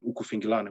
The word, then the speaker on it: ukufingilana: In Zulu culture, for example, the method of combat using bare hands, grappling base, kicks, punches, they call it ukufingilana. You know, that's the pronunciation, ukufingilana, which is basically the method of the unarmed combat of the Zulu warrior.